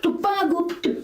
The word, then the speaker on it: тупогуб: Бык тупогуб, ударение на губ. Бык тупогуб, губочки, бычок.